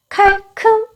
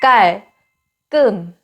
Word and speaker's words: 깔끔: 칼큼 아니고 깔끔.